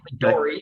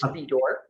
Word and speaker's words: Fedore: A lot of people Fedore. say Fedore, but it's Fedore.